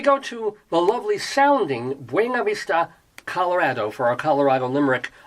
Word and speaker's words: Buena Vista: Buena Vista people sometimes pronounce it Buena Vista. I kid you not. Buena Vista, or they just abbreviate it to BV.